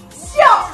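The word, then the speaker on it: 笑: It's called xiao.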